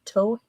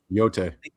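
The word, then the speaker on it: Yōtei: And uh for Christmas I got ghosts of tohei tohigh. I can never remember how to pronounce it. Huh? Yote.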